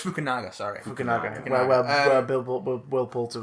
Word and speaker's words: Fukunaga: And of course, some of that work was done by Kerry Fukunaga. Fukunaga. Kerry Fukunaga. I always get his fucking surname wrong. We know who you mean. Kerry Fukunaga. I think it's Fukunawa.